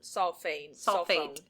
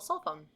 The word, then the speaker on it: sulfone: Dimethyl Dimethyl sulfane sulfate. Sulone. Solone. It's spelled s u s u l ff o n e. Dimethyl sulfone.